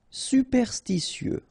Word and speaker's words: Superstitieux: Superstitieux, okay, so final X not pronounced.